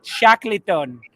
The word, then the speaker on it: Shackleton: ladies and gentlemen terry by the way it's pronounced shackleton he also pronounces to the table is his